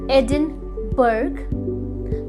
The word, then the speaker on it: Edinburgh: Yes, many people do, लेकिन इस word की सही प्रोनाउंसिएशन है एडिनबरा, एडिनबरा। जी हाँ, है ना ये स्ट्रेंज? लिखते हम कुछ और हैं और प्रोनाउंस हम कुछ और तरीके से करते हैं, बट जी हाँ, इसकी प्रोनाउंसिएशन एडिनबर्ग नहीं, एडिनबरा है।